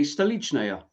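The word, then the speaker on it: Stolichnaya: Well, you say Stalichnaya.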